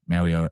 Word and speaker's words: Mauigoa: I don't think it's Goa. It's Oa, Mauigoa.